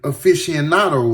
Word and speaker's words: aficionado: He was also a longtime hip-hop aficionado. Hold on. Because I do not want to mispronounce this word. Aficionado is what it is, but let's make sure.